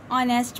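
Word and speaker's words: honest: से शुरू हो और एच क्या हो, उसका साइलेंट हो। मसलन जैसे हम कह सकते हैं कि एन ऑनेस्ट मैन, एन और।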